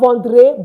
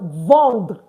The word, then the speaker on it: vendre: You don't pronounce the RE at the end of our French verb.